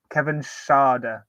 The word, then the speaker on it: Schade: I might pronounce his name completely wrong. Kevin Schade. You're right. That's what I say.